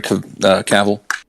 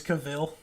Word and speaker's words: Cavill: that who did henry cavill how do people think it was cavill i don't well uh it rhymes with travel that's what he said